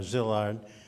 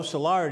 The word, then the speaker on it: Szilard: first language he sometimes called himself just Leo Szilard or Zilla close to what I do with his name he lived 13 years in Germany and another five in England and that changed his pronunciation he even adopted the English way of beginning a phone call hello Salar dear the FBI mangled poor